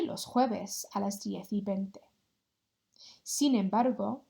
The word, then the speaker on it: jueves: Repeat after me, jueves. Jueves. If you're really struggling to make that h sound, just pronounce it as if it was a H there.